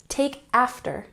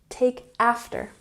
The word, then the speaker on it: take after: last year number 14 take after emphasize the first syllable here take after take after and this means that